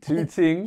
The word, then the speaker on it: Tooting: Tooting, yeah. Pronounce the T's.